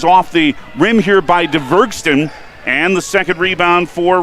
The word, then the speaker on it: Dvergsten: Now a shot is off the rim here by DeVergston, and the second rebound for Reese Terwilliger. DVERGSTEN. It is spelled like it sounds.